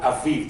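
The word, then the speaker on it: אביב: You know the city Tel Aviv, right? This is that word, Tel Aviv, this Aviv, okay? So, notice that the first syllable is a, and then we have viv, aviv.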